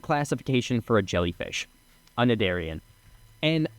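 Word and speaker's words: Cnidarian: just types the word, I believe it's pronounced Nidarian. There's a silent C in the front, and from what I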